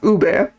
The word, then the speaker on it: ube: It's pronounced ube.